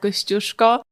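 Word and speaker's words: Kościuszko: take them over and we climb the out kushko and you pronounce it correctly we tell the stories about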